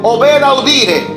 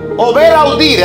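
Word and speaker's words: ob audire: Viene de un término latín que se pronuncia más o menos así: ober audire. Ober audire.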